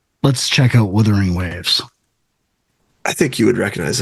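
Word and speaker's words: Wuthering Waves: the pronunciation of it it seemed like it's spelled weaing waves but everybody was saying wether ring waves elro baby who knows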